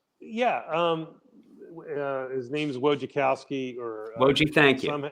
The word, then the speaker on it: Wojciechowski: Yeah, his name's Wojciechowski, or Woji, thank you.